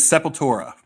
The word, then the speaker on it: Sepultura: Did I pronounce that right? Sepultura. Sepultura. With the Cavalier brothers. That is Sepultura.